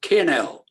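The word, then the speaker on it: 'Kin 'Ell: It is, I'll spell it, apostrophe KIN apostrophe ELL, two separate words. Kinell.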